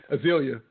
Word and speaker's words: Azealia: Azealia Banks. Did I say it right this time? Yeah, Azealia.